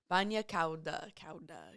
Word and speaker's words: bagna cauda: Bagna cauda. Bagna, so tub or bath. Hot bath. I looked up how to say it. Let's see. It was just it's spelled Bagnacauda.